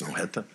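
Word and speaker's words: Snøhetta: Snohetta. I wanted to say Odetta, but it's Snohetta.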